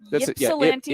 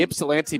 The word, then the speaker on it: Ypsilanti: Lincoln High School in, I can't pronounce this. Ypsilanti? Ypsilanti, Ypsilanti, Michigan.